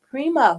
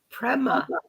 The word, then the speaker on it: Prema: she's going to tell us all about it Prima welcome to the show Prema Prema still said it wrong how to say